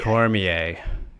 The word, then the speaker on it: Cormier: yes the competition yes yes Daniel Cormier it's pronounced Cormier Cormier cor I've heard of this guy he was